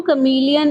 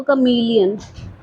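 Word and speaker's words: chameleon: ठीक है, उसके अलावा देखो last stanza, the true कमीलियन is small. अब ये भी एक प्रोनाउंसिएशन देखो, कमीलियन, कैमोलियन नहीं पढ़ना इसको, ये है कमीलियन।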